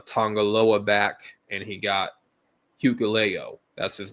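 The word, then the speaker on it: Hikuleo: He got uh Tongaloa back and he got Hucleo. That's his name. I finally pronounced it right.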